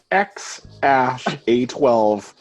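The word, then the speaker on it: X Æ A-12: letter X and then the AE is pronounced ash yeah and then a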